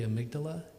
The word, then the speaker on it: amygdala: it's actually specifically the amygdala and it's spelled like Amy with a G d-a-l-a and so I used